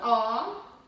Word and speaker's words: ho: Ah, the H is silent. So okay. You say non ho, ho figli.